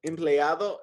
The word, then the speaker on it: empleado: Empleado significa employee. Remember those vowels. You always pronounce them. A-O.